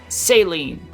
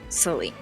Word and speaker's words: Saline: Saline. So close, bud. Well, that's how it's spelled, isn't it? It's Saline. It's pronounced Saline. Oh, I put the wrong emphasis on the wrong syllable, you know.